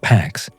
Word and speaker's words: P4X: He adopted the pseudonym P4X, pronounced PAX, a cheeky nod to enforcing peace through punishment.